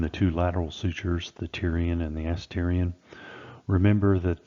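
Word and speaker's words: pterion: The Tyrian, and that P is silent, so it's the Tyrian suture, is the junction of the coronal suture with the squamosal suture.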